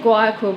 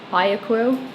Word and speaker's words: Guayaquil: Just arrived in our hotel in, I said Guayaquil before, but it's not. I think it's Guayaquil. I don't think you pronounce the G.